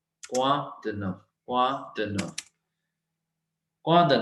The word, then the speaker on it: quoi de neuf: क्वा, क्वा, Q means क, ओ आई मीन्स वा. क्वा द नफ. CRFL रूल है, हमने एफ प्रोनाउंस करना है. ठीक है. EU means a, EU means a, so it is nuf, nuf.